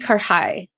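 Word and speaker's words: karahi: Pronounce it for us again. It's Pakistani karhai.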